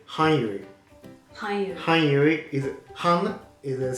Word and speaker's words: 漢語: Hanyu. 漢語 is Han is the same kanji with kan. Ah, right. Is a language. Ah, okay, sensei. So this is the Chinese pronunciation.